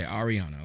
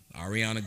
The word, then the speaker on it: Arriana: your first name I don't even AR okay Ariana okay cool I didn't want to it up Ariana thank you guys this is Ariana Grande my